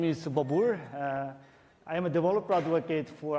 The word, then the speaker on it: Bobur: let me introduce myself first my name is babur I'm a developer advocate for Apache API 6. sometimes so difficult to pronounce my name people say it's from different